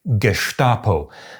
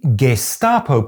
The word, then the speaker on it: Gestapo: Logically speaking, the correct pronunciation should be “Geshtapo”; but for some reason the “Gesstapo” pronunciation is the more common, and widely perceived as being correct.